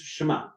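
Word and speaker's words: שמע: its three sounds essentially because in Hebrew it's one syllable shma um some could try to split it sh but it's shma um but let's split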